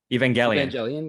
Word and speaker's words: Evangelion: Evangelion, yeah.